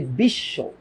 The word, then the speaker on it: বিশ্ব: এবার একটা জিনিস দেখো তো, উচ্চারণটা যখন আমি বলতেছি বিশ্ব, তখন উচ্চারণটা কেমন হচ্ছে বলতো? এখানে তো স একটা, বাট দুইটা স এর উচ্চারণ কেমনে হইলো? এটার উচ্চারণে দেখো উচ্চারণটা কেমনে করি আমরা, বিশ, তারপর বলি শো।